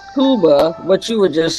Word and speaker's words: Cuba: Is it pronounced Cuba or Kuba? All right, AI says it's Cub Cuba. K U B-a Kuba is correct, but in English it is referred to as Cuba.